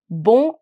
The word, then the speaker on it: bonjour: b b b now this Z in French is a bit tricky um I'll give you the exact pronunciation or I'll help you how to achieve this J uh it's very close to the English word pleasure or measure that J is what